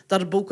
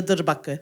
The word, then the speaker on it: darbuka: in the world, and it's also pronounced darbuka as well, depending on where you're from. There's many pronunciations, but we Darbuka. pronounce it as the durbaka.